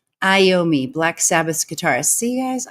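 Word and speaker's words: Iommi: oh thank you so much for the phonetic pronunciation iomi iomi Black Sabbath's guitarist see guys I literally do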